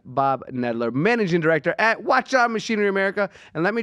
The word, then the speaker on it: Hwacheon: me a while ago how to say this not Washi on it's like having a watch and having it on is what they taught me